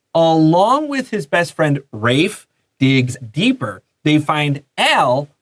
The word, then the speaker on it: Rafe: I had a friend named Rafe when I was a kid, spelled the same way. So we always check the pronunciation, and it's Rafe here.